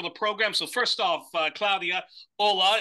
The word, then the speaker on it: Claudia: I please tell me I I I I pronounce that correctly yeah it's Claudia all right Claudia of r who is